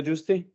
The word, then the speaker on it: Giusti: I often tell them that it's juice and tea, like the two drinks, because people pronounce in every sort of way.